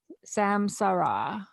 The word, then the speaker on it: Samsara: Samsara.